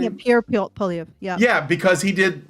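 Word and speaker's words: Pierre Poilievre: Yeah, Pierre Polyev.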